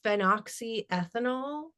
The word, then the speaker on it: phenoxyethanol: yes, and I think it's pronounced phenoxyethanol.